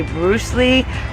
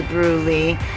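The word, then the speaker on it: Brusly: town i'm staying in i say bruce lee they say brulee so you know it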